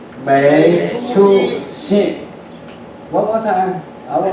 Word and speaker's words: 没出息: In Chinese pronunciation, 没出息.